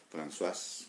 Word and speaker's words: Françoise: Muchos libros escritos de Françoise Dolto, Françoise, como dice Gastón, que lo pronuncia bien.